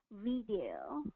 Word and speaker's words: video: pronounce that as a video. Oh, okay. So yeah, I know exactly what you're talking about. So there's a short I and a long E in there.